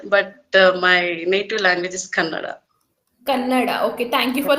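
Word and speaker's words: Kannada: to understand uh so your mother tongue is Canada Canada Canada yeah it's common in Bangalore people pronounce like Canad but my native language is Canada Canada okay thank you for correcting because you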